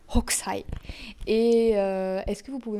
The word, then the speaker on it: Hokusai: On prononce H. Hokusai.